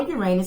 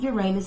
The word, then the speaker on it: Uranus: the planet Uranus or Uranus. Some pronounce it Uranus, some say Uranus, but you are ruled by that planet.